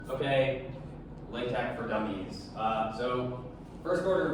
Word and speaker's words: LaTeX: But it's important to know that the last letter is the Greek letter chi, not an X. So it's tech.